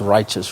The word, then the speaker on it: Rychuss: But if people want to get hold of us, the name of the company is spelled RYCHUSS, and it's Righteous Records.